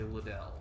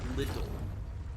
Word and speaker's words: Liddell: the funny thing is i would say liddell but they actually say like little not like like it